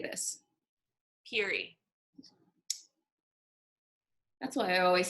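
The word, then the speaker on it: Peerie: Prairie or Peary? How would you say this? Peary. That's why I always spell it wrong when I try to Google it.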